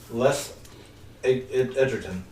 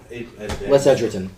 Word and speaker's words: Les Edgerton: So, It should be a story-worthy problem, to borrow a term from the book Hooked by Les Edgerton. Les Edgerton. Yeah. Thank you. I did pronounce it right.